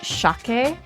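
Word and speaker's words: しゃけ: um like Osaken like like kansai dialect where it's shake.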